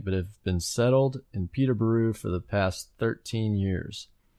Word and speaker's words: Peterborough: I live in a village just outside the city of Peterborough, or pronounced with a buru at the end, not a boro.